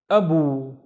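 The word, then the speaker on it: أبو: Now the first syllable is a, and the second syllable is bu, abu. Abu, and Abu means father.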